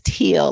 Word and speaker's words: Teal: last name is Teal, like steel without the S.